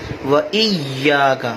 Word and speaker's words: إِيَّاكَ: الدین ایاک نعبد وَإِيَّا، یہ تشدید بھی ناظرین اچھے طریقے سے پڑھنی چاہیے. وَإِيَّاكَ، بعض لوگ بس ایاک نعبد یا نعبد کا عین بھی صحیح طریقے سے ادا نہیں کرتے، تو ہمیں اپنے تلفظ کو بہتر بنانا چاہیے.